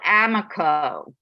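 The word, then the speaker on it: Amaco: The best clay company on earth is called Amico. It's spelled A-M-A-C-O.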